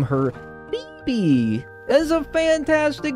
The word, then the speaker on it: Phoebe: Since I also want my girlfriend to be in the video, I'm going to name her Phoebe.